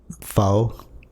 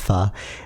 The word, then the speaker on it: pho: when we were kids like foe it's called pronounced pha like uh foe was